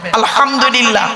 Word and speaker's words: আলহামদুলিল্লাহ: বসে একটু শুদ্ধ করে কোরআন পড়ার চেষ্টা করবেন আলহামদুলিল্লাহ আলহামদু আলহামদু নয় আলহামদুলিল্লাহ এর মানে হচ্ছে সমস্ত প্রশংসা আল্লাহ তোমার আর আমরা উচ্চারণ করি কি আলহামদুলিল্লাহ এর মানে শুনবেন সমস্ত